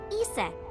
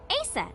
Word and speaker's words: Isis: horse's mom is named isis but in ancient egyptian it's pronounced closer to isa or asa hmm how do i